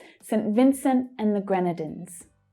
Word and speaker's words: Grenadines: Gren is the stressed syllable there. Grenadines. St. Vincent and the Grenadines.